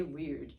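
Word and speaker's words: wyrd: just read it and this pronunciation is weird like wr w y r d you say weird the theme is fate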